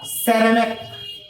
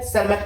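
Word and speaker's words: Tschermak: एक का नाम था सेरमक ठीक है जिसको हम लोग टी से साइलेंट कहते है टी साइलेंट है रमक लिखते है सेरमक पढ़ते हैं इन तीन साइंटिस्ट ने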